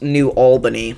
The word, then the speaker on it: New Albany: So, uh, apparently it's pronounced New Albany, but I I should be able to know how to pronounce that.